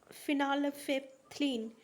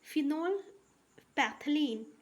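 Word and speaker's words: phenolphthalein: और इसको हम लोग फिनाल्फेथलीन, थोड़ा सा प्रोनाउंसिएशन गलत हुआ है, ठीक है। इसको हम लोग फिनोल पैथलीन कहते हैं, फिनोल पैथलीन, ठीक है।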